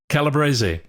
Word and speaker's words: Calabrese: Calibres. That's the Italian pronunciation, so it's technically correct.